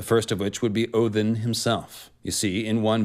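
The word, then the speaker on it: Óðinn: this is all about odin or odinn as we will say in the old norse pronunciation today he is the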